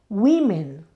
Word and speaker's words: women: woman pasa a women, y ojo aquí, hay una diferencia en la pronunciación. Woman, women.